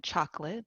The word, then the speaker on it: chocolate: The O here is not pronounced, and again, chocolate, that second O, is not pronounced.